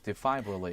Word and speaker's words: defibrillator: defibrillator. Okay. What's that? No. The pronunciation is defibrillator.